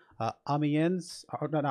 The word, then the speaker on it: Amiens: google search said uh amiens oh no no i don't think the s is pronounced i think it's just ambien something like that we're gonna go with